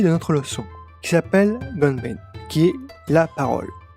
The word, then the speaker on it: ごんべん: Voici la nouvelle clé de notre leçon qui s'appelle Gonben, qui est la parole. Le hen ici est modifié pour faciliter la prononciation du nom de la clé.